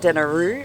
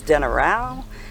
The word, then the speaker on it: Denarau: It's not denaru, it's denarau. The G is pronounced ng, and a Q is nga.